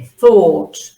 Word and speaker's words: thought: The thought, okay, el pensamiento, the thought, con O larga, thought, okay, la uno se pronuncia, no es thought, es thought, the thought of the mayor, okay?